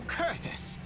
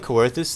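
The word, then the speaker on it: Coerthas: To Kurthus, and an audience with the Harpy Queen Garuda. Oh, it's Kurthus? I've been saying Coerthus this whole time. The O is silent, apparently.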